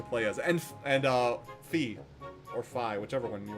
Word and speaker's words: Fi: out no it's actually fee they just that's the way it's pronounced in Japanese it's like God dang